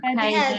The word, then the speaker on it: headache: Do you have a headache Headache too. Мгм. И смотрите, несмотря на то, что там АЧ написано, мы читаем headache. И вот это слово читается ache, headache. Headache.